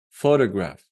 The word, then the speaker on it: photograph: Where shall we place the stress? On the first one, because we have this apostrophe. Photograph.